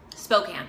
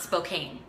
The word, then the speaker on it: Spokane: Spokane, not Spokane.